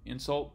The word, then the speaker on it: insult: by changing this stress so in the first example stress is on the first syllable insult and the second stress is on the second insult how this changes pitch